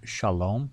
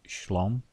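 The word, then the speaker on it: שלום: And have you also noticed the word shalom has been shortened in pronunciation to shlom?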